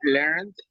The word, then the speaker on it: learned: I think is they learned English. There you are, perfect. The pronunciation is with D, just the D, just the D sound.